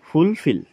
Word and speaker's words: fulfill: word fulfill is pronounced with more force on the second syllable ঠিক আছে আৰু ফুলফিল শব্দটো পঢ়োতে যেটো সেকেন্ড সিলেবল আছে এটুত বেছি ফোর্স এপ্লাই কৰিবলৈ কৈছে that is why we say the second syllable more strongly than the others ঠিক আছে fulfill listen